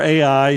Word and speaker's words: Ai: which, by the way, I pronounced Ai. I don't know, how do you pronounce it? Do y'all pronounce it differently? Yeah, it's either I or Ai, so I just spell it out, Ai, which is near Beth